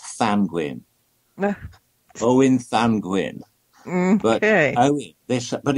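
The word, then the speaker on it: Ddantgwyn: It's actually pronounced Thanguin.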